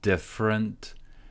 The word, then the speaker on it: different: You don't need to know how to take a bunch of different. Stress goes here on the first syllable. There is no E here. Different. You don't need to know how to take a bunch of different light stands.